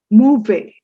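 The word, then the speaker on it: mauvais: it's a nice weather movie s is silent again movie it is bad weather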